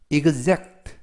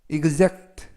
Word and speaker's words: exact: 뜻이 되겠습니다 이번 단어는 exact exact exact라고 발음하시는데요 이때 발음의 유의하실 것은이 x가 동시에 이그제 발음이납니다 그래서 이그젝트 exact라고 발음하시면 되고요 품사는 형용사가 되겠습니다 뜻은